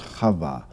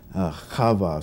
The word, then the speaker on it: Chava: interesting grammatical oddity that her name in Hebrew is Chava. Chava, spelled with that chet sound that's so hard for English speakers to make.